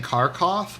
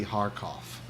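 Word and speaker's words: Kharkiv: supposed to pronounce it I think the Russian pronunciation is harof I was saying carof but I think it's supposed to be haroff so if if that's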